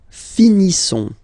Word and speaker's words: finissons: Nous finissons. Okay? I-S-S-O-N-S. Ils sont. Nous finissons. Finissons. Okay, final S, not pronounced.